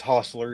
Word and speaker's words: Hostler: Short O. It's Hostler, yes. It gets mispronounced, Okay, misspelled. that would not have been my first guess, but thank you for correcting me. I'll be able to say it correctly now. Yeah, Hoss, like Hoss from Bonanza, but with a lure at the end.